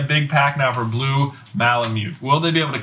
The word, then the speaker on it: Malamute: mute mute mute mute I've been corrected okay Malamute Malamute apparently it was common knowledge that's what everybody